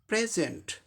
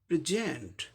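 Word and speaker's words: present: यदि नाउन के रूप में होगा तो पहले शुरू में फर्स्ट लेवल पर स्ट्रेस होगा और उच्चारण क्या हो जाएगा? प्रेजेंट। वर्ब होगा तो सेकंड लेवल पर स्ट्रेस होगा, इसका उच्चारण प्रेजेंट। प्रेजेंट, प्रेजेंट, ये फर्क हो जाता है।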